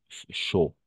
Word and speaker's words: chaud: N'oubliez pas, A-U, toujours O. C'est pour ça qu'on prononce chaud.